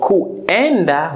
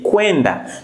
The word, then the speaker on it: kuenda: You know, U and E in Swahili, U and E makes the W sound.